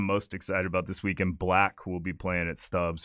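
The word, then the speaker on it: 6LACK: by you yeah it's it's spelled 6 l c k is how he spells his name but he goes by black cool and yeah that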